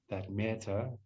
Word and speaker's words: Metta: And so as you breathe in with this soft, beautiful feeling, you can say me or met. 2 syllables. As we breathe out, Ta.